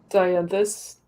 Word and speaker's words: Dianthus: Dianthus.